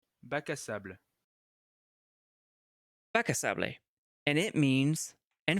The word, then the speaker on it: Bac à sable: Actually, turns out Bacasable is, oops, Bacasable is French, pronounced Bac à sable. Bac à sable.